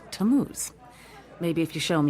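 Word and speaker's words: Tammuz: It's pronounced Tamuz.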